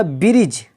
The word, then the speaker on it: bridge: यानी यहाँ पर डी जो है वो साइलेंट है, जिसका माना होता है काजी, फैसला करने वाला, इंसाफ करने वाला। इसी तरह ब्रिज, BRIDGE, जिसका माना होता है पुल, यहाँ पर